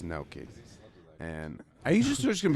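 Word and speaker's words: gnocchi: scream at me like this is not ghannouchi I cook I cook and I'm like it's no key first of all that's how you say it it's no keys and are you just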